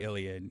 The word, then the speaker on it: Iliad: the, oh my God, am I going to pronounce this right? Iliad? The Iliad.